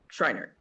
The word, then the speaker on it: Schreiner: Is it Scheinert or Scheinert? Schreiner, okay. Who is the district judge, second judicial court from the Family Division, Department 14 in Washoe County.